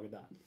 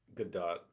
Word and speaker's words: Gadot: Caitlin pronounces it with the T. Yeah, I think I think it is pronounced with the T. I think Gadot is correct.